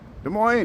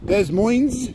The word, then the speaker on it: Des Moines: Des Moines, how you doing there, Iowa? Thanks for tuning in. Des Moines? No, Des Moines. I gotta say it like the French, like Terre Haute.